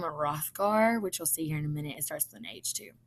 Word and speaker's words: Hrothgar: The H is silent, kind of in the king's name, Hrothgar, which you'll see here in a minute.